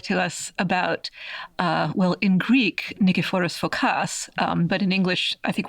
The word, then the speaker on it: Nikephoros Phokas: So here you're here to talk to us about, in Greek, Nikephoros Phokas, but in English, I think we're more likely to hear his name pronounced Nikephoros Phokas.